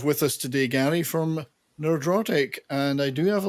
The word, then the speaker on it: Nerdrotic: I always say nerdrotic, but everybody else says nerderotic. What is the true pronunciation? Nerdrotic. No E. So I say nerdrotic. neurotic. Yeah. Okay. If you want to say neurotic, so it's nerdrotic. But not nerd-erotic. No.